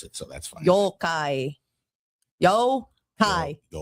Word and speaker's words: Yokai: Um you can't even pronounce it so that's fine. Yokai.